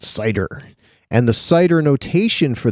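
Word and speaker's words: CIDR: address 0.101 this is also known as cider classless inter-domain routing pronounced cider and The Cider notation for this you could show the IP address and then a slash 16.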